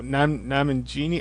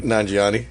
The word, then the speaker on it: Nanjiani: I don't know, Namangini? I don't know how to pronounce his last name. Nanjiani, yeah.